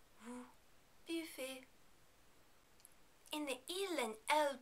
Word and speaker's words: buvez: Remember, in the vous form, the final EZ is pronounced like A. Vous buvez. Vous buvez.